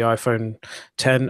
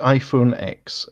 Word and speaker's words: iPhone X: I've already using the iPhone 10 or X as you like to call it Mateo yes the iPhone X the iPhone X as